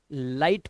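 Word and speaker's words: light: बोला गया है कि जी एचटी में आया हुआ जो जीएच होता है ना ये हमेशा साइलेंट रहता है ध्यान रखना तो इसे लिग नहीं लाइट पढ़ेंगे इसी तरह से यहां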